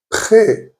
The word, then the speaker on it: près: Now you have to be a little careful because a few small words in French take the accent grave but are pronounced as if there was an accent aigu. For example, près, near.